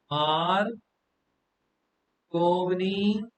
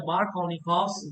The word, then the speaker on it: Markovnikov: और नाम क्या है, मार्कोनी कॉक्स rule, right? How will you pronounce it, student? You'll pronounce it as the Markovnikov's rule. Markovnikov's rule. B का sound नहीं है इसके अंदर.